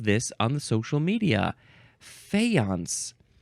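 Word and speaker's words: faience: is F fance uh or actually fance you emphasize the second syllable fance you could also say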